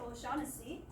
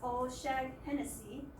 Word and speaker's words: O'Shaughnessy: And then the last name, it's pretty hard to pronounce, it's O'Shaughnessy. However, the teacher pronounced it as O'Shag-Hennessy, so we can see as well here that the number of letters in a word and the phones do not match.